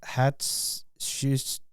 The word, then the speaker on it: Hatshepsut: I'm gonna butcher this, but it's Hatshepsut.